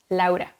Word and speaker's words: Laura: And by the way, that's how her name is pronounced in Spanish, Laura.